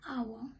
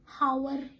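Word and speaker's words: hour: एन आवर, मैं ये आवर पढ़ूंगी, हावर आवर नहीं पढ़ूंगी. ये मेरा आवर, क्योंकि यहाँ पे मेरा एच हो गया साइलेंट.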